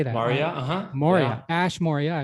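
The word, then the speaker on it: Maurya: Moria.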